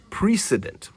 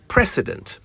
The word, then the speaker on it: precedent: Now, have you noticed how the word precedent sounds a lot like president? I've also noticed how some people mispronounce it as precedent. Well, it's precedent.